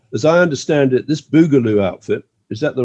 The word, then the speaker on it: Boogaloo: Now, as I understand it, this Boogaloo outfit, is that the right pronunciation? Boogaloo?